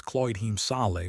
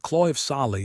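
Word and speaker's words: Claíomh Solais: The real pronunciation was Cloyd Hemale, wasn't it? But Clive of Salai is much more familiar.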